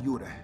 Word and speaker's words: Yura: well similar technically because my birth name is different it's a yura but you Americans always pronounce it somehow like jar so you know I